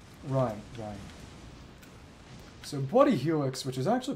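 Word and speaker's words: Bloody Helice: like a detective story name Ry Ry so bloody Helix which is actually pronounced bloody Elis if I recall correctly Spa okay really arterio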